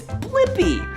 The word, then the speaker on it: Blippi: Yeah, it's Blippi. Let's spell it together. Ready? B-L-I-P-P-I.